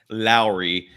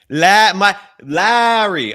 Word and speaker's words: Lauri: My pushback on the delay thing is one of the biggest reasons why you're going for another star player, whether it's Lauri. Lauri.